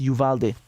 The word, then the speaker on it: Uvalde: let you know that it's pronounced yuvalde dang it i asked